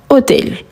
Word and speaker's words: hôtel: Donc qu'est-ce qu'on utilise avant hôtel? Parfait, hôtel commence par un H muet.